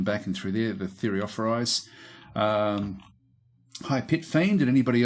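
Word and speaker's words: Thureophoroi: Anyway, we've got a lot of these Thureophoris. That's now the correct pronunciation.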